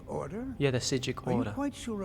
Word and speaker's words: Psijic: Yeah, the P is silent, like in preposterous. I'm afraid I didn't see anything. Can you tell me more about what you saw? Some monk from the Order. The Psijic Order?